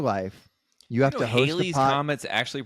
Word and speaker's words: Halley's Comet: For the rest of your life, you have to host Halley's Comet's actually pronounced Halley's Comet?